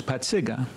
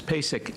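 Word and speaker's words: Pacyga: The real pronunciation is Patsiga. Everybody says Paysic.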